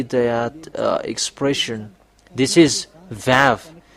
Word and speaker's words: vav: This is vav.